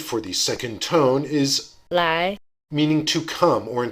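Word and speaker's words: 来: the model word for the second tone is lie meaning to come or in some contexts to do listen to its pronunciation lie lie here are some tone combinations with second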